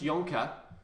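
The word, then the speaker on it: Jonker: TMO again, Marius Yonka.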